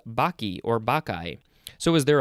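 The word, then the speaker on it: Bacchae: okay we are going to move on to baki or that's how it's pronounced it is spelled capital b a c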